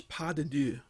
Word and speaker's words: pas de deux: about this so this is French so the pronunciation is pas de deux and it's it means step of two and